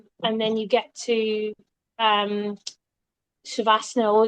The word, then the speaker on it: Shavasana: I had the Asana Rebel app, and at the end of most of their workouts, they do the Shavasana.